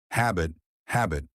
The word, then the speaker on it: habit: Habit, habit. 2 syllables. Stress on the first part.